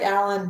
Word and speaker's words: Aellen: It sounds like Alan, but it's pronounced or looks like Alien or Alien or however you want to be a telemarketer and try to pronounce my last name. So it's Aellen. And it's German Swiss, actually.